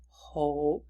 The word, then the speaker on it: hope: Hope has that O sound with the magic E or the silent E.